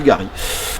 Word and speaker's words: Garit: Le pont du Gary. Voilà, pont du Gary avec un T à la fin. On pourrait prononcer pont du Garit, mais Aloïs c'est pont du Gary.